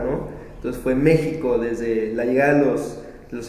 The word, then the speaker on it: México: Y pues ahora todos lo pronunciamos con J, pero pues la forma ideal, o como está escrito, es con X.